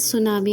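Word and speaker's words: tsunami: Okay, the pronunciation is सुनामी, यहाँ पे टी सुनामी लिखा हुआ है बच्चों, लेकिन यहाँ पे हम प्रोनाउंसिएशन सुनामी कहते हैं क्योंकि टी साइलेंट रहता है।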